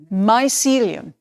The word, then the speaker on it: mycelium: do you say this how do you pronounce this in english messily mycelium right learn something again mycelium okay um two really